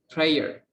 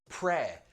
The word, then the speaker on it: prayer: Oke, nah kata bendanya itu prayer. Prayer. Pronunciation, be very careful. Prayer.